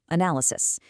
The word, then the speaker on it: analysis: And quick tip, make sure you're stressing that second syllable, analysis.